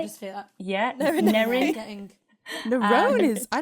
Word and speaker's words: Nerine: I get Nyrene, I get Nairene, I get Nerone. Nerine. Nerine. Sorry, I just feel that. Yeah, Nerine. Nerine.